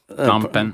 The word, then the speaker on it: Phnom Penh: Phnom Penh. I always wondered. It has a PH.